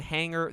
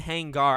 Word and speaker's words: Hangar: about mafia 4 and hangar 13 hangar i don't really know how to say it because it's it's not er it's ar but anyway a lot